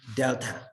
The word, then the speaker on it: delta: call it uh this symbol this is uh pronounced delta so basically um what we're saying that we